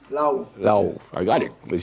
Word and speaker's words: Laoe: So it pronounced? Laoe.